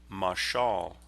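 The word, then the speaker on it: מָשָׁל: vilhelm jenius it's a masculine noun that is pronounced in Hebrew masal notice how jenius makes this word the same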